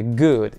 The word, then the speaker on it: good: Такое более мягкое произношение вот этой double O в слове good. Итого получается good.